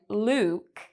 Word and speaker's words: Luke: Sometimes, like in Luke, it's a long vowel sound, whereas in this word, look, it's a short vowel sound.